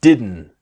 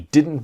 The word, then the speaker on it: didn't: to buy it - you didn't you didn't want you didn't okay it's that n sound never pause listen and